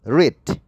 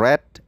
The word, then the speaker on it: read: is ditambah biyeng kemudian read ya bacanya read ini dari kata verb 1 read verb 2 red verb 3 red tulisannya sama tetapi bacanya